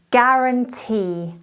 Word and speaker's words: guarantee: the 20th word is guaranteed guarantee don't say gua just g ignore the u guarantee it's spelled g-u